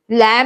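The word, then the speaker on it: lamb: sound नहीं आ रही लैम में बी की साउंड नहीं आ रही ब की साउंड कहीं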